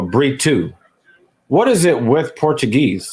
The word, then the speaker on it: Brito: It looks like the proper pronunciation is not Brito, but Brito.